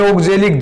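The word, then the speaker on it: oxalic: ओगजेलिक, उच्चारण में ओगजेलिक जय आता है बेटा, लिखा सहज आता है।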